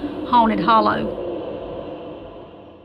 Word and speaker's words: Hainted Holler: My mom was raised in a place in Georgia called Hainted Holler, which the correct pronunciation would be Haunted Hollow.